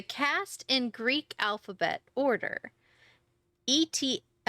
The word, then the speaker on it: eta: Eta, long E as in tabby.